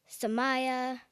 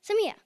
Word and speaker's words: Samia: It's not Samaya, Samira, Samia. It's simply Samia.